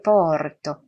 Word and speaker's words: porto: 여기 porto에서 오는 열린 오입니다. 그러니까 입을 아처럼 열린 상태에서 오 발음을 하고요.